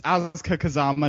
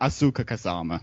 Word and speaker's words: Asuka Kazama: It's Asuka Kazama, not Asuka Kazama.